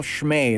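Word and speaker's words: Schmäh: austria and uh there's a thing they call shmay that's how it's pronounced and it denotes this austrian sense of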